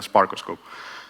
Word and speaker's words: SparkOscope: Greek for Lookout so it's pronounced like stethoscope but instead uh it's a sparkos scope um okay so what